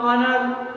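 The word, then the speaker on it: honour: इसका उच्चारण होता है ऑनर, फिर ऑनेस्ट है, फिर आवर है, फिर एयर है, ये साइलेंट वर्ड के अंतर्गत आते हैं। देखने में एच लग रहा है शुरुआत में, लेकिन उच्चारण क्या है ऑनर, तो इसके अकॉर्डिंग क्या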